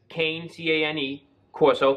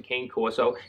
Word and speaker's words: Cane Corso: people pronounce it differently I just read it as Kane ta any Corso that's the way I pronounce it this is in a